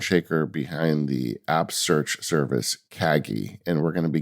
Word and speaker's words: Kagi: primary mover and shaker behind the app search Kaggi, and we're going to be getting into that today. Um, but I didn't even think to ask you, is that how you pronounce it? Kaggi.